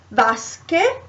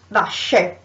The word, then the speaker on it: vasche: So vasche written with an H. Why? To say, to have the same sound, because if you write it without the H it becomes vasche.